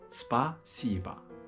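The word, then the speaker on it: спасибо: ついてるんでアクセントのないんぼあばにありますなので芝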